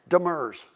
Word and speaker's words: Demers: So we did come down, and is it Demers or Demers? Demers, okay.